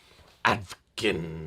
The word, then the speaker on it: Advken: it's the D is silent or the K is silent, blah blah blah blah. Advken, that's what I call it.